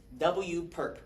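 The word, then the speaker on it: W⊥: So this is telling me ah this W perk that's literally how you say it pronounced W per like the perpetrator perp wow W per Okay.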